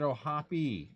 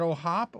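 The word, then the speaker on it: O'Hoppe: Or is it O'Hoppy? Is it O'Hop or O'Hoppy? I've heard it both ways. I think it's O'Hop. I think the E is silent.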